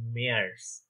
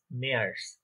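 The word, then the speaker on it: März: March আমরা normally ইংলিশে বলি, কিন্তু ওখানে ওটা হয়ে যায় মেয়ার্স। মেয়ার্স, দেখেন এটা কিন্তু এ umlaut, আ এ, আ এ।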